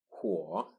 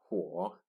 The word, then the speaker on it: 火: That is, of course, fire, 火, 火, 火, and it got simplified to such as this. It still keeps the shape of the ancient drawing, 火, 火, 火.